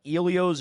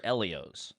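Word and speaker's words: Ellio's: The the first things first one that was I mean it was the staple was there's two pronunciations of it. I don't know. Uh Ilios or Elios.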